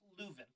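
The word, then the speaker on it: Leuven: from louvain belgium like let's pronounce luven yeah first off yeah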